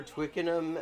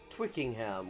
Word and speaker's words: Twickenham: somebody wanted it was going for twickenham and they got twickingham which is like how philomena kung would pronounce it how are you doing